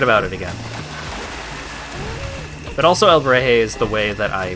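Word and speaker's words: Alebrije: So it's heh, not hey.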